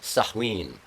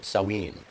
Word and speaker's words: Samhain: ween looks like Samhain the god of death pronounced saline or saline a holiday observed by the ancient Celts a